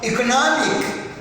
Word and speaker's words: economic: we have the stresses it has become economic one two one two mickey no you you just come to syllables backwards from this very end then you get the stress why so it's because of this straight like this suffix that has been added to this world okay now